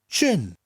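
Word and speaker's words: jin: third one is gin you say it the same way is in English but it's per differently Jay I n chin so nice easy words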